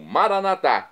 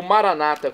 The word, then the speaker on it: Maranata: E agora eu clamo Maranatá, como dizemos nós católicos, ou Maranata, como dizem nossos irmãos separados, os evangélicos ou protestantes.